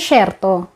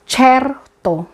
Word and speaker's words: certo: Hindi siya SHERTO. CHERTO. CHERTO. CHERTO. Okay. Dito, ang letter C ay pronounce nila as CHI. CH. Okay? Like church. Ganon.